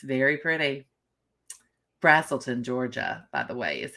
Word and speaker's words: Braselton: of Atlanta there it is it's very pretty Braselton Georgia by the way is how you pronounce that so A brazilton brazilton oh oh